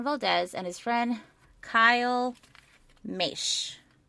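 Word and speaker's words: Moesch: and his friend kyle mesh it's spelled m-o-e-s-c-h but it's bashed and i had to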